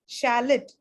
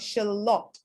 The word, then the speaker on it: shallot: now is that justice just because the spelling is the same does not mean the pronunciation will be the same okay what we need to look at is a phonetic script which tells us it's scaly and shallot okay uh so this